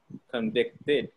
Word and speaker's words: convicted: Same thing with convict. Convict, two syllables. Convicted, three syllables, and the past and past participle.